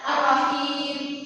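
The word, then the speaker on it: الرحيم: Contoh maktomi di dalam kalimat ini berada pada di rahim, yaitu huruf berharakat kasrah bertemu dengan sukun. Bacanya berarti benar, berarti cara membacanya ar-rahim.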